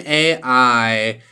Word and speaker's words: Ai: she said hi I'm Ai and Opie says so you're AI that would make you the smartest woman I've ever matched with and she says what my name is I pronounced like I and he said oh